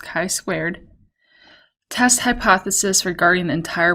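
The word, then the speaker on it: chi-squared: squared this is like an x squared it's pronounced chi squared test hypothesis regarding the entire probability distribution so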